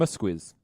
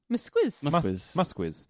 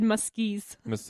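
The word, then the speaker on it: Muzquiz: The director for the episode is, I looked up how to say his name this time. It's Raymond Musquiz. Musquiz.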